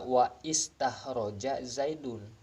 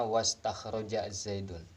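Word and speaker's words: واستخرج زيد: Jangan dibaca wa istakhroja Zaidun, melainkan dibacanya wastakhroja Zaidun.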